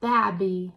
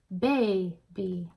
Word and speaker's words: baby: that B Bab and it's not babby we say baby so that's the difference